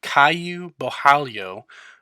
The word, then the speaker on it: Caio Borralho: tough, but I did look into how to pronounce this one. It's a Caio Borralho versus Armen Petrosyan.